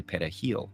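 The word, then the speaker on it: perejil: Spanish word for parsley Dominicans pronounce it pil with a trilled Spanish R the primary Haitian language however is crayle which doesn't use a trilled r so if people struggled to say pahil they were judged to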